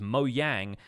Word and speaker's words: Mojang: company for a while because Moe yang is actually the Swedish word for gadget gizmo thingy it's kind of used